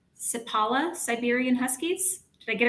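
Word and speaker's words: Seppala: racing I hope I say this name right sipala Siberian Huskies did I get it right that's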